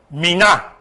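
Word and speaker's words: מינה: sex that is kind Meena is how you say it you see the word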